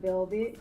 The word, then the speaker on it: VLVT: go by Velvet.